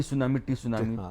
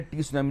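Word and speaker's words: tsunami: हाँ, टी सुनामी हाँ। तो किसने कहा कि अरे टी सुनामी ने टी साइलेंट साइलेंट सुनामी है।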